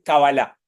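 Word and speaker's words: קבלה: son esdrújulas las palabras en hebreo en general se suele acentuar la última sílaba y en hebreo se dice cabala que ahora vamos a ver de dónde viene y todo demás que es fácil en castellano se le dice cábala y en inglés se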